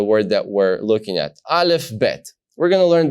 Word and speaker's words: aleph: letter is the Iliff it's called the aleph and it is recognized as a silent letter meaning that we don't say it we use the vowels which we'll learn later on to tell us how to pronounce this letter now when I say